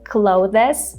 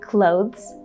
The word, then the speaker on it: clothes: We have this in this word, but we don't pronounce it. A lot of people say clothes, which is not correct. Just forget about this E sound at all. Imagine that it's not there.